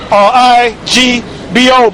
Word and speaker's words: Igbo: You can say Igbo is spelled Igbo, but you pronounce it Igbo.